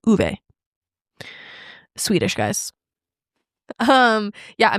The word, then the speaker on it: Ove: I thought it was Obe. It's Uve. Uve.